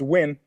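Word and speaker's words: Nguyen: a long Gulf Ben Gwyn against al Tekken o kilick sorry I interrupted you say again Ben Gwyn that's Gwyn with the ngu ye n the Vietnamese Gwyn also pronounced also pronounced win win well what you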